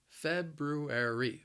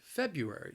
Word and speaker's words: February: again and again anyway the word has four syllables the stress is on that first syllable but I think this word is challenging because of the those two R's in there Feb rue air II